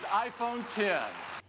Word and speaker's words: iPhone X: Comment il va le prononcer? This is iPhone 10.